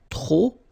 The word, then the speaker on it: trop: If you want to use trop, and trop means too many, okay? Then you will have to put de and the noun without the article, okay? Remember, too many, trop, don't pronounce the final P, trop, de, and the noun without the article.